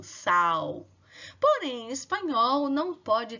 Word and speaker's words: sal: pelo som do U, sal. Porém, em espanhol não pode ter esse câmbio, né? Em espanhol, o L fica com o som de L mesmo.